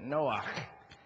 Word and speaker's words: Noah: That's how you say it, Noah.